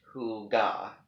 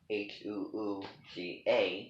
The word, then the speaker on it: Hygge: Hygge, pronounced Huga, Huuga, which sounds like, something, that what does that name sound like to you?